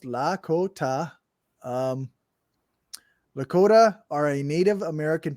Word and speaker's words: Lakota: The Lakota, pronounced Lakota.